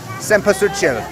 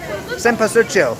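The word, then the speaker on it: cempasúchil: Right before you comment on my pronunciation, the lovely lady behind me just told me, Cempasuchil, Cempasuchil, marigold, okay?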